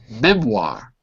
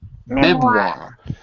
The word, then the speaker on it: memoir: Next word on the top, oh my God, memoir. Memoir. Memoir. Memoir. Good. All of you added the W sound. It's not written, but it is pronounced.